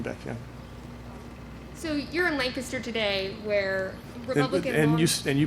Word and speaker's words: Lancaster: So you're in Lancaster today, where Republican and you pronounced that correctly.